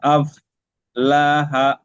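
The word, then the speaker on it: أفلح: আছে কদ আফ লাহা, এটা বড় হা আর শেষেরটা ছোট আচ্ছা হা। কদ আফ লাহা, লাহা বড় হা উচ্চারণ হবে, আর হাওয়াটা কিছু মুখের গোলার মাঝখান থেকে বেরোবে।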